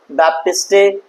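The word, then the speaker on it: Baptiste: उनका नाम था जीन बेप्टिस्टे। लेमार्क क्या नाम है? जीन बै बाप। बैप्टिस्टेटी। कल को कुछ लोग बेप्टिस्टी भी बोलते हैं, कुछ लोग बैप्टिस्टे बोलते हैं।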